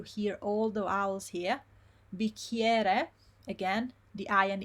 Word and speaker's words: bicchiere: bicchiere, again, the I and E, ie, it's not E, it's ie.